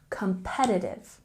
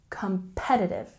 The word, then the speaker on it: competitive: invest and lastly we we have competitive with a stress on the second syllable competitive competitive can you hear how the rest of the word sort of rolls off the tongue competitive good and now we